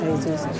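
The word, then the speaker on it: Jesús: great name cuz it's spelled Jesus but it's pronounced Jesus a is still having his fluids I'm waiting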